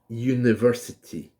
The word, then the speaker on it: university: Okay, so for example, a university. The letter is U, it's not Y, but it sounds like a Y.